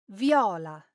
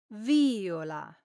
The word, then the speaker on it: viola: When this is pronounced with the accent on the first syllable, as in Viola, this is the third person of the verb violare, meaning he or she violates. But when the accent moves to the second syllable, as in viola, then it means violet, as in the flower or the instrument.